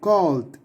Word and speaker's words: called: So call, and if you wanna say it in the simple past way, you have to say called, called, okay, like a D at the end, like this one is a D, okay.